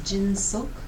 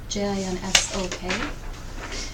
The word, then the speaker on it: Jinsok: You might have noticed that there's one word in that that's pronounced a little bit differently. In the paper it says Jinsok, Jinsok. And when you're reciting this by yourself, that is the correct word to say.